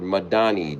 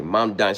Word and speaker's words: Mamdani: He needed Mayor Madani.